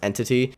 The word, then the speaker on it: NTT: engine like it was called ntt pronounced entity and that actually caused